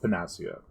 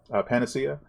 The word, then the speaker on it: panacea: Uh, I really don't think that's how that's pronounced. Moving on. Panacea.